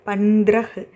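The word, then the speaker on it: पंद्रह: அடுத்து தவோட இங்கே கீழே ஒரு ஸ்லாண்டட் லைன் கொடுத்துருக்காங்க, அது வந்து ர, ஓகேவா? ஸோ தாவையும் நம்ம இதுன்னு தான் ப்ரொனவுன்ஸ் பண்ணோம். இன் இது ர இஹ் பந்த்ரஹ், பந்த்ரஹ் அப்படின்னா 15.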